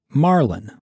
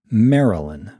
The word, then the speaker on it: Marilyn: Eric introduced Marilyn to his friends, who went months thinking her name was Marlin, like the fish, because of how Eric's Scottish accent squashed the middle syllable in Marilyn.